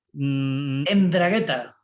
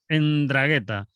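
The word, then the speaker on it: 'Ndrangheta: el juicio a la ndragheta ndragheta en bragueta que es eso vamos ndragheta con g h tea y una n con un apóstrofe ahí es que bueno italia como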